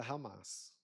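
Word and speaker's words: חמס: A palavra violência aqui, ela é pronunciada Hamas.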